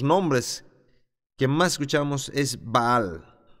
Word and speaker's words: Baal: Pero en el lenguaje cananeo trae el pensamiento en un sentido probablemente era pronunciado como Baal, pero decimos Baal, porque es más fácil de pronunciar.